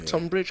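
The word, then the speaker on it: Tonbridge: And it's that's one spelled with an O, but it's still Tumbridge cuz they're really named after the same thing.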